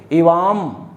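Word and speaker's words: इवाम्: और इसे आधा न या आधा मा पढ़ते हैं, जैसे इवा नहीं पढ़ेंगे, इवाम। अगर इवा पढ़ दिया आपने तो सब खराब हो गया, इवाम।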